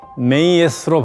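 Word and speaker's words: Maat: 여신들에게 합니다 지난 시간에 마트 여신에 대해서 잠시 이야기했습니다 메이로 발음하는 마트 여신은 우주의 균형과 질서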